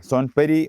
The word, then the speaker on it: Sonpuri: How to pronounce right way? Son puri or son py.